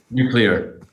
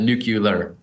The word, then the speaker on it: nuclear: thanks for having me Ed how do you pronounce nuclear nuclear you don't want to tempt me with any kind of George W kind of nucular also Ben Cook the editor of the times